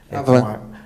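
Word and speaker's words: Havan: Eu não sei se a pronúncia é correta, Avan ou Ravan. Avan. H-A-V-A-N.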